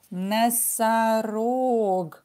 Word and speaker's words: носорог: Ударение на О. This O is stressed. So pronounce it as O. These two are not stressed. So we will pronounce them as A. Носорог. Носорог. And G become unvoiced K. Because it's in the end of the word.